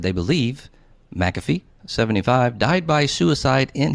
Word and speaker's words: McAfee: you say his name i got it wrong mcafee mcafee thank you sir was found dead in